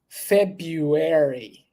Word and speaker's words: February: that one would be February as you see there Fe February we're not going to pronounce the first letter R so you don't need